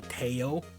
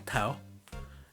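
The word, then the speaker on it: Tso: i remember my co-worker was calling it general taiyo and i was like no no it's general tao and trilobite i think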